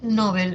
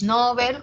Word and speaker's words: Nobel: Pero si atiendo a lo que dice el DPD, al Diccionario Panhispánico de Dudas, me dice, sí, Nobel como grave está extendido su uso, o sea, está muy usado.